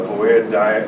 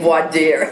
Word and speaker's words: voir dire: had this other trial, the Voir trial, the Voir diet. The voir dire. I finally said it right.